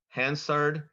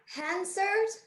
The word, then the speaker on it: Hansard: okay your word is has two correct pronunciations Hansard Hansard hanser Hansard hanser I have the definition